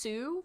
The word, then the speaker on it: Shu: Oh, wow, it's pronounced Sue rather than Shu.